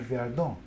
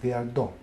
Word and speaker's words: Viardo: His name was Vladimir Viardot. And in America it's pronounced Viardo, but because it's French name, the accent should be on the last, Viardot.